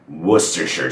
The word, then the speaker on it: Worcestershire: We know the ending shire from New Hampshire, for instance. Tending to pronounce it as shire is not a bad guess. And the first part of the word, which looks like Worcester, is actually just Worcester. Worcester. So it goes Worcestershire sauce.